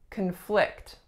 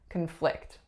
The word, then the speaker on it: conflict: we have conflict conflict in this case I'm saying a verb because my strongest syllable is the second my first syllable is what conflict it is a schwa and my strongest syllable is a conflict as in our opinions